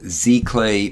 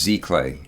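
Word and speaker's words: giclée: use what they call Z clay printing um I believe it's French and it's spelled g CLE uh it's pronounced Z clay I believe it's the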